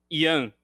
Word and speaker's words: Ian: Yeah, so my name in Portuguese, we pronounce Ian. But all my English teachers in all my life called me Ian, so I'm used to it.